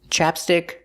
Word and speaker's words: ChapStick: the pronunciation is different chapstick use a short a sound like black cat ChapStick and Chopstick use the short a like hot and stop Chopstick but also Chopsticks come